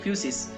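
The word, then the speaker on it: φύσις: तो फिजिक्स ये वर्ड आता है एक ग्रीक वर्ड से जिसको हम प्रोनाउंस करते हैं फ्यूसिस।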